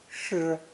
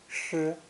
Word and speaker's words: 失: It's pronounced first tone, 诗, 诗.